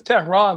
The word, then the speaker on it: Tehran: board that's i-a-m-t-e-h-r-a-n and my name is tehran like the capital of iran so if you don't